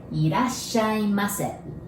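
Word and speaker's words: いらっしゃいませ: Irasshaimase. The first, ira. Do you remember? We don't have R sound in Japanese, so we pronounce it like L, right?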